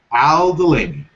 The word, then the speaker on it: Aldulaimi: Al Delaney.